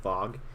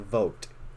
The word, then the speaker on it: Vogt: and lauren vogt and how you would pronounce their name is v-o-g-t which you think is vlogged or fog but it's a vote vote okay all right for